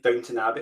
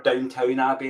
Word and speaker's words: Downton Abbey: Reminds me of being in like Downton Abbey, or Downtown Abbey, as the Americans say.